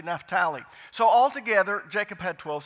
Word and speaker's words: Naphtali: that in America we pronounce it that way, but it's actually Naphtali.